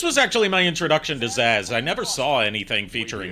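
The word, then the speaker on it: Zsasz: Zaz.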